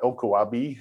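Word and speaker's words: LKAB: currently we're working um lk ab or elkowabi as it's pronounced locally is um that's actually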